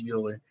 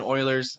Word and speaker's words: Euler: this guy's name as euler but it's pronounced spoiler like the houston oilers it's not houston anymore